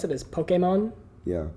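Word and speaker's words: Pokémon: Pokemon Pokemon so apparently how you're supposed to pronounce it is Pokemon yeah like a okay moan okay mom Pokemon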